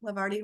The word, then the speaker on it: Levarti: I mean, after all, Levarti rhymes with party.